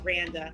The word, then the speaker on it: Randa: It's spelled Randa. So rhymes with panda. Okay, so is it Randa or Randy? It's actually both, either or. Randa. Okay, the way Randa from Waterbury, Connecticut.